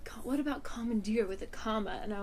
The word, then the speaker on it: Common, Dear: Commandeer.